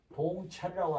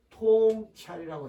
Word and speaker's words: 통찰: 1동 2동 3동 그런데 여기서는 봉찰이라고 하면은 말이 안 맞고 여기는 통찰이라고 해야 돼요 이 글자가 단어에 따라서 어떤 때는 동자로 발음이 되고 어떤 때는 통짜로 발음이 됩니다 여기서는 예리한 판단력으로 사물을